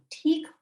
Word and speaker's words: ठीक: मैं ठीक हूँ. Okay? मैं ठीक हूँ. And remember, this word ठीक is a tricky H word, so remember to pronounce it correctly.